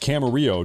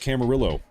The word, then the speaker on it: Camarillo: It's pronounced Camaro. No, it's not. It's pronounced Camarillo. Camarillo is how we say it in this country.